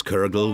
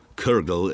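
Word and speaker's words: cwrwgl: seven thousand years ago everyone get that this kergel was built four years ago as an archaeological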